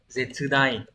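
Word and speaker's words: 絶大: Từ số 2 đọc là Zetsudai, cũng là một từ vựng rất là quan trọng của N1, được hỏi một số lần rồi.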